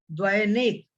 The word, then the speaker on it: द्वयनेक: आपको बोलना है द्वयनेक। क्या बोलना है? द्वयनेक, द्वयनेक। ठीक है, तो द्वयनेक इस प्रकार से उच्चारण करेंगे।